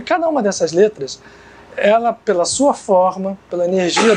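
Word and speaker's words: אל: Se pronuncia El.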